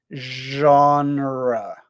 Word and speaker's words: genre: Okay, Elijah, the question is, how do you pronounce the word genre? Genre. Genre. It's a zh sound. And then on, like the word on, genre.